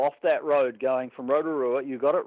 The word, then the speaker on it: Rotorua: So when they did come and pluck me, with car and all off that road going from Rotorua, you got it right, your pronunciation was dead set correct, from Rotorua to Auckland, I was like, what the hell is going on here?